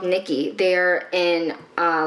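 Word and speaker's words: Knickey: closet um i forgot about this brand called nikki they are in uh like an underwear brand it's spelled k-n-i-c-k-e-y and they will recycle your like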